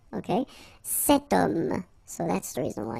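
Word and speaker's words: cet homme: is here we've got this ash letter remember Ash is not pronounced okay so you get the sound of O at the beginning of this word okay setum so that's the reason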